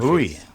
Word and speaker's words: Bui: Buoy. Yeah. I mean, yeah. Like see when I when I say your last name I think of a buoy like something that's floating in the ocean.